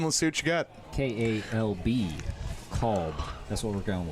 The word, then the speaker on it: Kalb: K-A-L-B. Kalb. That's what we're going with. Yeah. Until it's too hard to pronounce.